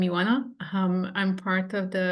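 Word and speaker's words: Ioana: for having me and for you folks out there wondering how my name is pronounced I know it's a common thing I'm Yana um I'm part of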